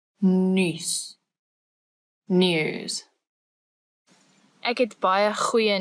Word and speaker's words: nuus: because if you do, it means you've learned the ch and the nuus, which is what makes that word a bit harder than others. So this one is u. You're making this weird shape with your mouth. U.